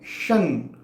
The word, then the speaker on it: शं: करवा सकते तो करवाइए, लेकिन न का उच्चारण यदि फिर कर सके तो न का उच्चारण करिए, न। म का उच्चारण बिल्कुल ना करिए। न का उच्चारण फिर चाहे तो कर सकते हैं, लेकिन सटीक उच्चारण है शन, ओम शं शनिश्चराय नमः।